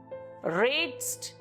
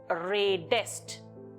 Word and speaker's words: redest: What is redst? It sounds very weird. To make the pronunciation more appealing, after the stem ending D, an additional E is added before the ending ST. So it becomes redest.